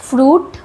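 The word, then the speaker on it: fruit: कुछ वर्ड्स हैं जिसमें आई वर्ड साइलेंट होता है। फ्रूट फ्रूट में आई साइलेंट होता है।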